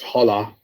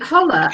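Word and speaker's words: challah: vets are terrible um linda says the bread is pronounced hollow do you know what i've always played holla and when i went into one of the shops they looked at me and i was mad and i thought oh i've always pronounced it thank you for helping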